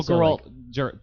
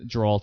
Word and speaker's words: Geralt: oh yeah yeah uh Gerald Gerald Jerry Jerry Jerry Jerry like his name is hard to pronounce it's geralt it's geralt um whatever uh he he